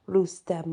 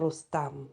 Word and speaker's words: Rustam: As the Eve was slain by the cultural hero Rustem or Rustam, depending on how you pronounce it.